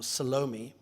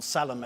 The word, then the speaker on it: Salome: to the black woman, Salome, which would be the South African pronunciation of the more classical Salome, I guess, who's worked for their family for years and years and years.